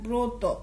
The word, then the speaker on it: ব্রত: ব সাথে অ আছে এবং একটা রফলা আছে ব্রত ব্রতের উচ্চারণ আমরা লিখব ব রফলা অকার তো অকার